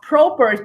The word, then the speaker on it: Proper: proper but it's pronounced Probert because it's Dutch and the O is a long Oh sound so thank you for